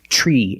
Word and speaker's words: tree: When you have TR together in any situation, you can pronounce it ter, but usually we don't. We pronounce it ch plus the R sound, chur. Example, train, truck, tree, and travel.